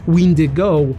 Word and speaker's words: wendigo: death decay and corruption the wendigo or windy go as per original ojibwe pronunciation is a being or